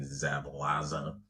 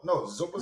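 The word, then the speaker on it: Szoboszlai: McAllister and I can't pronounce his name, Zabalaza. No, Zoboslai.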